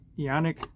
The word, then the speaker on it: Eoniq: yeah EO and IQ like I said I pronounced it ionic zoom in here a little bit so all